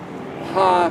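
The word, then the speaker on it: ה: The letter He is pronounced as Ha, means the.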